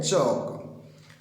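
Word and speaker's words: chalk: अब देखिए यहाँ पे एल साइलेंट रहता है, टॉक वॉक, और इससे मिलता जुलता एक वर्ड और है चौक, एल साइलेंट रहता है। ऐसे नहीं कि टाल्क वाल्क चाल्क ऐसे नहीं बोल रहे, ठीक है, एल साइलेंट होता है, टॉक वॉक एंड चौक।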